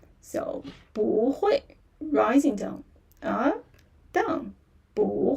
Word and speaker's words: bu hui: So, here Oh, actually originally is falling tone. You know the falling tone. Strong falling tone. Yeah. Falling tone. But here. But this word is kind of very special. Yeah. So, we need to go with some other tones. Yeah. It is very special. It will change to a rising tone. So, here the change to rising tone instead of bu hui.